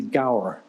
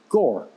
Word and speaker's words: Gower: understands the name because it's felt like it should be Gower but it's pronounced Gore and if there's always